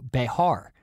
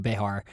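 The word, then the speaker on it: Bexar: that castaneda have retreated with his men to behar which by the way is spelled b-e-x-a-r which for a totally like illiterate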